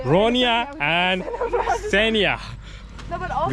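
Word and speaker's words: Ronja: Ronya.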